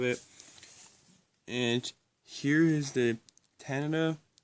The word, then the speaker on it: Tanita: and here is the Tanana I believe it's pronounced a Nita one four seven nine